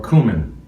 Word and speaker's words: cumin: And this is some ground cumin or cumin. There's another pronunciation, but we're trying to make this a family show.